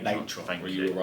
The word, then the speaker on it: Natron: It is pronounced Natron. Natron.